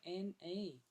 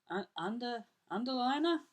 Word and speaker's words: Andelaine: So that's Andelaine, ANDELAINE. As somebody had just pronounced it last week as, how do they say Lane magazine? Liner? Underliner? I could underliner. There you go, Andelaine.